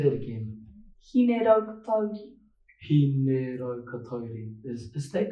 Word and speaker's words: Hineraukatauri: Hineraukatauri. Sorry, could you say that again? Hineraukatauri.